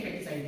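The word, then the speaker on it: foeticide: Spelling का एक ही spelling का अंतर है। यहाँ ओ आ रहा है, देख लीजिए, मैच कर लीजिए, यहाँ ओ दे दिया। पढ़ना इसको भी फेटिसाइड ही है। क्या पढ़ोगे? फेटिसाइड। इसको भी फेटिसाइड ही पढ़ेंगे, ठीक है। ये ओ यहाँ पर साइलेंट है, ठीक है।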